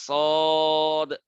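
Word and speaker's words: ص: শিন তিনটা হরফ দিয়ে লেখা, শিন ইয়া নুন, এরকম ভাবে সদ তিনটা হরফ দিয়ে লেখা, চার আলিফ টানবেন, সদ আলিফ দাল।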